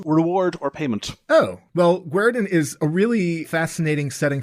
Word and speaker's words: Guerdon: city that I'm going to totally blow the pronunciation on. So what is the name of the city? It's Guerdon.